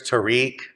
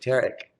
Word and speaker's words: Tarek: you heard some people there's Tariq it's very common too this is kind of sexy to read okay the pronunciation Arabic and I went to an American School my whole life so I was I've always been Derek okay I like Derek